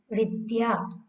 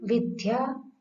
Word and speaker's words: विद्या: द्य, इसमें वर्णों का क्रम है द, य, अ। द्य, द है, ध नहीं है, अतः इसका उच्चारण द्य करना है, न कि ध्य। हम प्राय ध्य बोलते हैं, जो कि गलत है। शब्द है विद्या, गद्य। यदि विद्या, गद्य ऐसा बोलेंगे तो उच्चारण हमारा अशुद्ध हो जाएगा।